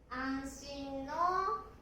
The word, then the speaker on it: 安: Một cách để đọc chữ Kanji "安" này là "Yasu" của "Yasui / 安井." Nó cũng có thể được đọc là "あん / an." Cách đọc này giống với "安" của "安心."